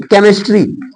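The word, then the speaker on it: chemistry: लेकिन सी एच इसको क्या बोला गया, एच साइलेंट है तो केमिस्ट्री।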